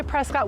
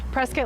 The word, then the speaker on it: Prescott: and by the way it's spelled prescott but if you say prescott we know you're not from here so press get like biscuit welcome so i